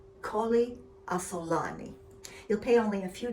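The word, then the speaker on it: Colli Asolani: therefore supposedly higher quality yet, called Colli Assolani, pronounced Colli Assolani.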